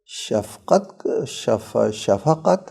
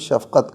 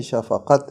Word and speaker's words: شفقت: اور رحمت احسان کو۔ شفقت ہے اصل میں، ہم لوگ اردو تلفظ شفقت کرتے ہیں، یہ وہ فا ساکن کے ساتھ شفقت، تلفظ صحیح نہیں، شفقت ہے۔ شفیق ہونے کا مطلب